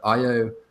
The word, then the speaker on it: Io: it just happened with IO or yo depending on how you pronounce it this is because of